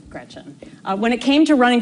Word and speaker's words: Gretch: named after my grandma Gretchen, who I adore. It's funny though, because she always said, never let anyone shorten your name. Don't let people call you Gretch, because it rhymes with wretch.